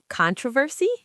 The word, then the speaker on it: controversy: The stress is on the first syllable in British English and the final syllable sounds completely different. controversy American, controversy.